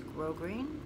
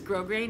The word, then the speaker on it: grosgrain: That is how you say that word right there. That is grosgrain. That word right there is grosgrain.